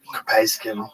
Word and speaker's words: capsaicin: Or I got capsaicin.